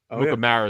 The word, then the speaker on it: Amukamara: Problem is, Amukamara is actually how you say it.